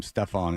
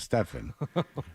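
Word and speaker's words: Stephen: reportedly mispronounced Curry's name calling him Stefon instead of Stefan that's not good and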